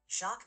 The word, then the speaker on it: Jacques: It's pronounced Maritain, with a soft N at the end, since Jacques Maritain was French.